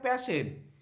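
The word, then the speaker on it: Paschen: আচ্ছা, এই প্রোনাউন্সিয়েশনটা প্যাশন হয়? প্যাশেন, হ্যাঁ।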